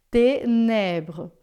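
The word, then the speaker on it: ténèbres: E esse e aqui ele não tem acento nenhum e então ele não existe no som, tá? Det nebr. Esse termina assim, ó. É um som zero, um som que não existe, tá? Você termina basicamente aqui, ó. Det tenebre, tá? Termina no R.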